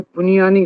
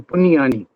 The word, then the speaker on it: Puniyani: Uh just if you don't mind, you can call me Puniyani rather than other things. That's my real surname, Puniyani.